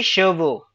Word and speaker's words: chevaux: CHEVAUX. Shiva. CHEVAUX. VA. UX. Now listen. We didn't do ABCD in French language, so remember whenever you see AU or AUX, it will give you a sound of O.